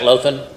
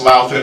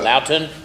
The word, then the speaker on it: Louthan: Is that how you pronounce that, Lothan? It's Louthan, sir, but Loughton? Okay, Loughton.